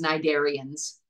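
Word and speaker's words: cnidarians: name we have is nid darians that's what we call them yep yep remember the C though James the C's you have to spell it with the sea but you don't have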